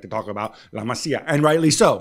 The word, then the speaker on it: La Masia: Well, to me, says nobody, when he goes out and he calls it La Messiah, he's surrounded by people around him who are like, boss, but by the way, no biggie, but it's La Masia, right?